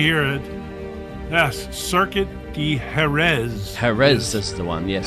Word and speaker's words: Jerez: Jerez is the one, yes. Jerez, yes.